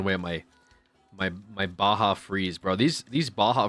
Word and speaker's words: Baja: It's pronounced Baja.